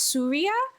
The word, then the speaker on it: Surya: This might be completely nitpicky, but I speak Hindi and Surya is pronounced Surya with an emphasis on the first syllable.